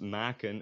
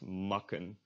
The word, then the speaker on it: maken: This is pronounced maken and not makken, which would be the case if it had 2 Ks, for example, which we'll get to later, just in 5 minutes.